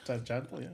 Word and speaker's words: Tjahjanto: Tjahjanto. Tjahjanto, yeah.